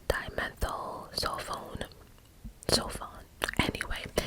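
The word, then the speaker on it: dimethyl sulfone: to pronounce that real quick hold on it's pronounced dimethyl cell phone so fun anyway it's it's spelled d-i-m-e-t-h-y-l then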